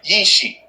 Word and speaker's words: Ishi: jesus christ is ishii the prophet pronunciation is yishi and the gala gichi